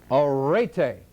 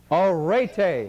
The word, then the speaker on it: arete: encourage you to seek what the Greeks call arete. How many here would like to learn a foreign language? Then pronounce with me this word. It is arete.